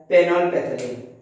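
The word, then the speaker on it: phenolphthalein: पेनोलपैथिलीन, पी है, जब देखिए पैथिलीन लिखा गया, हम लोग बोलेंगे तो पैथिलीन, लेकिन लिखाएगा कैसे, PHTH।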